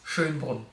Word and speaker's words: Schönbrunn: But if you have troubles pronouncing that name, it's Schönbrunn. S-C-H and this O with the little dots, the Ö. I know it's really hard for non-German speakers. There is this meme on the internet of a cat that is like puking up, and that's basically how you pronounce it, like it's Ö.